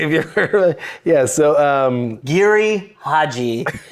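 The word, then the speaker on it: Giri/Haji: Like, So another one, if you're into Japanese stuff, is Harry Carey. Or sorry. Oh God, I did not mean to be such a dick about that. I just mispronounced it. It's called Giri Haji.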